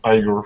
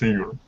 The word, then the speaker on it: Igor: 30 minutes sorry you've been pronouncing my name igor for a very long time but it's eager oh i'm so sorry